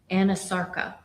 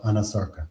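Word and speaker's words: anasarca: examiner, did she have a condition known as Anasarka? If I'm not mispronouncing it. No, you're pronouncing correctly. She did have a condition called Anasarka.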